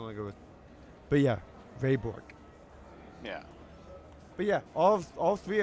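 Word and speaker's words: Bourque: Burke? I'm assuming you just mispronounced his name. I'm going to give you a second attempt. Bork? Bork. Yes. Raymond Bork.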